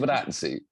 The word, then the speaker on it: Giovinazzi: Fabrizio how do you pronounce his last name? Giovinazzi.